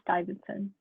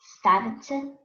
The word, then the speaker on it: Stuyvesant: It's pronounced Stuyvesant. Stuyvesant? Yep. Okay. Stuyvesant.